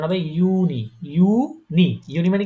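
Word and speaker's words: Juni: দেখেন এটা কি ইয়ট হ্যাঁ এটা হচ্ছে কি উচ্চারণ হবে ইউনি ইউনি ইউনি মানে কি জানেন ইউনি ওইটা হচ্ছে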